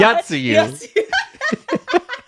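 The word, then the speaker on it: Yotsuyu: Yatsuyu.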